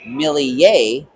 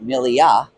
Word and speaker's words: Millie: So quick correction there on number 22 Mason Millie, not Millia.